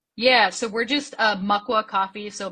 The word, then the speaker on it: Makwa: that fun stuff yeah so we're just uh mua coffee so Maka is the ojibway word for black bear that's